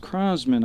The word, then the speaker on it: Crosman: the third baseman and I want to correct myself it's pronounced Crosman I couldn't read my own writing can you imagine that and